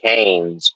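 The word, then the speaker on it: Keynes: In February 09, Summers quoted uh economist John Maynard, I think it's pronounced Canes, Ke saying, "When circumstances change, I change my opinion."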